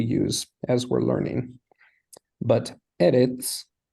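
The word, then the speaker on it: ארץ: But eretz is one of the exceptions, and the stress is on the first syllable.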